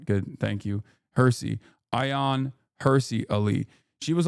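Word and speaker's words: Hirsi: It's pronounced Hersy, not Hershey. Oh, okay. I don't really care. But all right, good. Thank you. Hersy.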